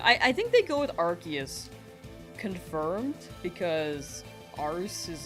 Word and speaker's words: Arceus: You go back and forth, but one doesn't seem to know which pronunciation is correct. Yeah, I think they go with Arceus.